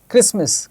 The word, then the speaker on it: Christmas: The T is silent in these all these words. Hasten, Christmas, kitchen, सब में T है, but it is silent.